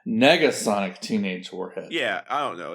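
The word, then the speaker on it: Negasonic Teenage Warhead: was in the movie sorry I had her name wrong it's it's Nega Sonic teenage Warhead yeah I don't know it's just a it's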